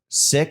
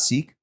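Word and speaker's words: Sikh: yo do you know what's pronounced sick and not seek yes I didn't know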